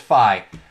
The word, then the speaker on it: Fi: Google Phi Google Phi I always feel like I mispronounce it because it's either fee or five but it's Phi this would be the